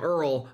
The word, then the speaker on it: URL: with the perfect name he named him Earl but it's spelled URL well that is a clever